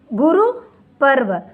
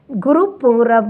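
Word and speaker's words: गुरपुरब: And Guru Parv Sikh का celebration होता है गुरुपूरब, मैंने बोला था, sorry children's, we have to pronounce as अ गुरुपूरब, नहीं गुरुपर्व।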